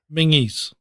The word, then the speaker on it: Menzies: Menzies. You know how that's really pronounced? How? Mingies.